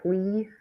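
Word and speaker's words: Tui: John Twee, I think is his name.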